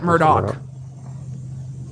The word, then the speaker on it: Murdaugh: that's interesting to me he pronounces it Murdoch May 27th 1968 and